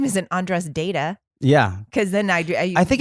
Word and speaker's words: Deida: Dieda. David Dieda. Do it again. David Dieda. God, David Dieda. Deida.